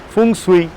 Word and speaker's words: Feng Shui: The Chinese word Feng Shui, which is the right pronunciation, transforms to balancing the energy flow.